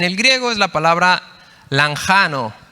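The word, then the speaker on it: λαγχάνω: griego es la palabra lanjano se escribe lanchano ch sí se pronuncia lanjano y esta palabra se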